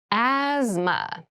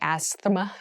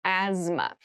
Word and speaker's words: asthma: cavity asthma asthma Asma so this word has very interesting spelling there's a th in the middle but we don't say asthma we say Asma so kind of ignore that but try to remember it when you're spelling this